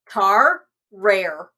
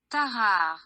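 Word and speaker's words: Tarrare: I think that the two R's together makes it a hard R, so. I mean, the pronunciation Okay. guide is... Okay, Ugh. here, listen to it. Tahar.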